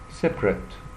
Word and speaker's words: separate: Separate, mission, stress, task. Separate. Separate. طبعا الكلمة دي لو هي verb بننطقها separate.